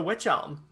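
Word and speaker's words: wych elm: helm and now the witch elm i should i should also say it's not spelled uh like spooky witch it's spelled w-y-c-h so just put that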